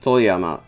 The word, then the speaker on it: Toyama: be very specific or toyama that's how it's pronounced toyama or that could be a program they're having